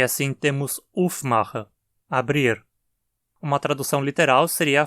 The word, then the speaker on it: aufmachen: Dizemos aufmachen e não aufmachen. O acento cai no prefixo, aufmachen.